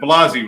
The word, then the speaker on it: Blasi: It's Jason Blasi and Eric DeArmas. Yes, sir. Did I say it right? Yeah, absolutely DeArmas? correct. And Blasi, right? Yes. Right? Okay. I got it right.